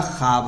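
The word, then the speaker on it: خواب: उसे वाओ मदुला कहते खवाब में वाव तो लिखा हुआ है लेकिन यह पढ़ने में नहीं आएगा इसलिए यह खब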